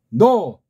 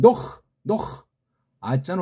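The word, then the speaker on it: Noah: 그 다음 노, 멀리서 들으면 노, 아자는 원래 없는 건데 그냥 이걸 편집한 어떤 자들이 붙인 거예요.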